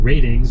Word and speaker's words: RTINGS: And we saw that happen this week with the website ratings or RTINGS is how it's spelled out.